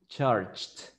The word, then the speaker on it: charged: do you pronounce it no no with t because the pronunciation of G is like C Char good good good good so it is charged why because when you pronounce it charge it's similar to CH so charged no vibration charge charged good next one Isaac the